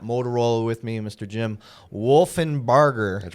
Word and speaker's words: Wolfinbarger: Jim Wolfinbarger. That's right. Make sure I said it right. It's a good one. Not Wolf.